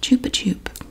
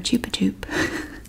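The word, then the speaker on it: Chupa Chups: And we have, now, when I pronounced this last time, several people didn't like the way I said it. But I know because Catalina on My Name is Earl pronounced this Chupa Chup. And Catalina is never wrong, and I love her. So these are Chupa Tubes. That's the way she said it.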